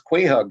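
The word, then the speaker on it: quahog: those creatures qu Hogs they pronounce it quog in the maritimes qua h o g and they have found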